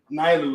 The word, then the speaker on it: Nilu: I forgot how he pronounced it. Nilu? I think it's Nilu. Nilu is how it's pronounced.